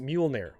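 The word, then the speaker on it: Mjölnir: Okay, so it's pronounced Mjolnir.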